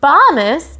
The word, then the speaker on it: bonus: For bonus. It rhymes with Thomas.